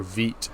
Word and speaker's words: Vite: That's the, Vite. Nice. Or Vite, how it's properly pronounced.